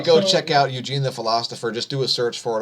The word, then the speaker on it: Philostopher: in to eugene the philosopher and it's it's spelled p-h-i-l-o-s-t-o-p-h-e-r there's a t in there philosopher so don't get confused about that go subscribe over there